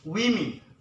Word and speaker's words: women: of mojito for women is correct way to pronounce it women we mean not human ok but you can